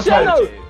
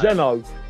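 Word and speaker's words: xeno: Zeno. Like, no, Lawson didn't fall for the trick. Lawson didn't fall for it. Well done, well done. Don't say X-N-O again. There's no, X is pronounced as a Z.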